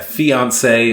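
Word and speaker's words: fiancée: each other as their fiancee or fiance depending on the gender pronounced the same but spelt different that's a one e for the men and two for the women because well you know french words so once they're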